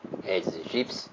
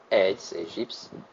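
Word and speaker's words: Aedes aegypti: dengue transmitida pelo mosquito eds egipci que é a pronúncia correta eds egipci o morador de Campinas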